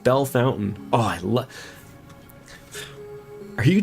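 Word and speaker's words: Bellefontaine: They also have Bell Fontaine, which should sound like Bella Fontaine, but they pronounce it Bell Fountain.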